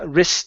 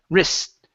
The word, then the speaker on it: wrist: and um uh wrist deep okay so instead of R deep wrist wrist deep R wrist deep good so we don't need to pronounce that T it's trapped between two consonants okay okay uh now